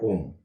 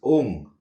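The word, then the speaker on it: ॐ: Though we say Om, but when we pronounce it in Sanskrit, it is not Om. It is Ong, O-N-G, G, G, Ong.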